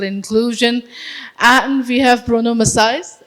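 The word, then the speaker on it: Maçães: And we have Bruno Macaes. Am I pronouncing it right? Macaes? Okay, great.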